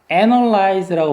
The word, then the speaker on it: analyze: 동사는 뭐라고 발음하냐면 강세가 앞에 있어서 analyze라고 발음합니다. analyze.